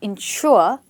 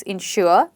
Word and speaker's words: insure: The first thing is we stress both of these words on the second syllable. It's got to be insure, ensure and they are pronounced just the same but a little bit of difference.